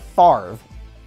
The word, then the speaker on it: Favre: Brett Favre spells his name F-A-V-R-E. Sounds like Favre if you're looking at it, right? But no, it's Favre, F-A-V-R-E, Favre. So spell that out phonetically for someone. Favre, F-A-R-V, Favre, all right?